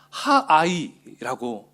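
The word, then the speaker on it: העי: 자, 이 아이성의 아이는 히브리어로 하아이라고 읽습니다. 하아이.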